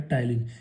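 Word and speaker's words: ptyalin: और इसमें जो एंजाइम होता है सलाइवा में वो होता है टाइलिन। पी यहाँ पर साइलेंट होता है तो उसको हम बोलते हैं टाइलिन। और इस टाइलिन में जो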